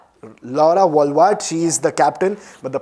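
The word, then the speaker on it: Wolvaardt: The playing 11 will be Laura Wavd Ward Wulvad. I hope that's how you pronounce it. It's Laura Walwat. Laura Walwat.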